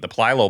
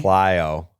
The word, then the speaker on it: plyo: Plylo? How do you say him? Go. Pappy? Plyo. Balls? There you go. He's not even throwing those. It's been multiple weeks. I did think there was another L in there.